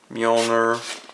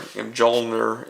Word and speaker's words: Mjolnir: He comes with, of course, Mjolnir, or Mjolnir if you don't know how to pronounce it correctly.